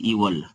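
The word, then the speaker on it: evil: ऐसे बैड इल और इसे एल मत पढ़िए इसे पढ़िए इवल एल नहीं इवल पढ़िए सही है उच्चारण यही तो बैड इवल एंड इल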